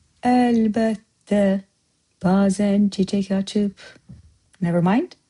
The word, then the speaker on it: əlbəttə: It's a little different pronunciation-wise from Turkish, just a little. But əlbəttə. Did you notice? Bette. You wrote, but I said bette.